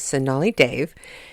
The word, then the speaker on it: Sonali Dev: You know, I was gushing about her not too long ago, and I was probably pronouncing her name wrong in the last show, but her name is Sonali Dev, and she wrote The Vibrant Years, which actually comes out tomorrow.